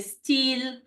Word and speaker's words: style: you to understand that sometimes you're going to hear an E like you know style in French we say steel but it is with a Y it is written